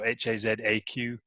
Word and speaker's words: Hazaq: Hazaq spelled with a Q, so Hazaq, and that's kind of what would you call it?